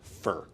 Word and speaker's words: Ø: That is pronounced as if it was fur, but it's written with an O and a circle over a line through a line through it.